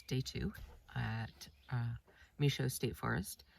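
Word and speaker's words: Michaux: day two at uh misho State Forest I think the Rangers pronounce it Michelle I always learn different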